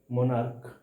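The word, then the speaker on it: monarch: देखो, ये दोनों नाउन जिसका last to letter C एच है, सी एच है, जबकि इसका इसका जो प्रोनाउंसिएशन है, इसका जो उच्चारण है वो क हो रहा है, स्टोमैक, मोनार्क।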